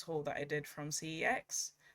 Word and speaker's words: CeX: that i did from cex um or sex that's how they pronounce it c e x or sex um but i just